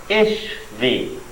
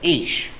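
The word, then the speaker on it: אִישׁ: Well, certainly, this here is a piece of the word man, ish. It's just missing the silent letter, aleph, at the front of it.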